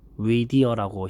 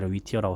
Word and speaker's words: Whittier: 한번 가봤어요라고 발음을 하는데 아 스펠링이 whittier인데 이게 위디어라고 현재 선 발음하더라고요 근데 구글맵이나 위티어라고 써 있어요 그래서 위디아에 가서 이렇게